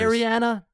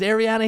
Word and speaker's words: Arian: Ariana? Is Ariana here? Um, sorry. It's Arian.